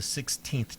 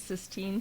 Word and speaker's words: Sistine: Number 6, Justin Bieber, in a 2012 interview with David Letterman, said, "I'm not going for the 16th Chapel look." I think that- 16. I think that's Sistine Chapel.